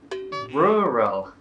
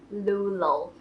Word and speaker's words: rural: R เท่าไหร่เพราะว่ามันจะออกยากส่วนมากจะออกเป็น L อะไรอย่างเงี้ยคือก็ลองฝึกดูนะคะโอเคคำที่3นะคะคือคำว่า Rural. Thais will pronounce as Lulu exactly. So again, they pronounce 2 R's in this word as L's, one at the start and one in the middle of the word.